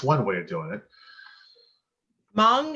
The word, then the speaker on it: Hmong: way of doing it mong is the correct pronunciation and it's different than vietnamese thank you very much